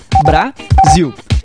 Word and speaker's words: Brasil: Brasil. Viu como o som do zil é mais forte e se prolonga quando falamos? Então, zil é a sílaba tônica.